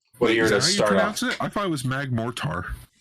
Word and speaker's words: Magmortar: I thought it was Magmortar. It's like mortar. It's a mortar. I thought it was Mortar.